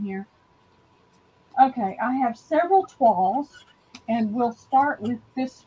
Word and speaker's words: toile: o i now l it's a french word 12.